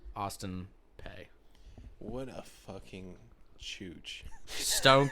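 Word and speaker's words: Peay: So Austin Pay.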